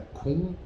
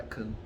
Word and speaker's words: Kuhn: Eu poderia citar Gaston Bachelard, Thomas Kuhn, ou Kahn, né? Mas a pronúncia mais para Kuhn do que para Kahn.